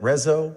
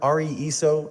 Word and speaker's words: RESO: We've had enough experience with these kinds of systems to know that RESO, RESO, and other mispronunciations are pretty common.